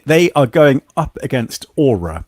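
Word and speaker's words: Oura: going up against Aura Aura is that how you say it what do you think Darion yeah you know like your your um your magical Soul thing that hangs around you yeah except it's spelled with an O just to confuse things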